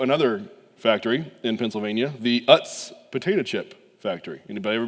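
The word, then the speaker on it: Utz: factory in Pennsylvania, the Uts potato chip factory. Anybody ever been there? And it I I've looked it up a thousand times. It is uts. It is not oots. It's pronounced uts.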